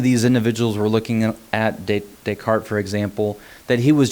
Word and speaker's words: Descartes: and so you might be tempted to say descartes but it's actually pronounced descartes now descartes is very famous for a lot